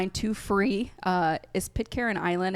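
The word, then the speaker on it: Pitcairn: free uh is Pit Karen Island.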